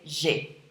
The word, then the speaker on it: j'ai: So that's why we take off the E on the je and we replace it with an apostrophe. And instead of saying je ai, we say j'ai.